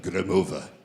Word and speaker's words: Gromova: Olga Gromova.